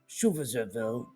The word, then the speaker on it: Schutzstaffel: Oversight of the Gestapo passed to the head of the Schutzstaffel, that's how we pronounce it, Heinrich Heiner, who was also appointed chief of the German police by Hitler in 1936.